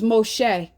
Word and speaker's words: Moshe: Y'all like to sit there and call Moses fake, which his real name we pronounce is Moshe.